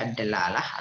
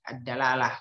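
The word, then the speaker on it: الدلالة: Adapun yang diinginkan dalam pembahasan kita ini bukan meskipun bisa dibaca ad-dalalah atau ad-dilalah, yang diinginkan yang lebih tepatnya adalah bil fathi, ad-dalalah pengucapannya.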